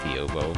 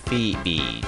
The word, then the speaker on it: Phoebe: Or not Fiobo, Phoebe, jeez. Gotta remember not to mispronounce the name.